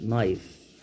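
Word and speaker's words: knife: نايف، الكلمه ما بتتنطقش، نايف.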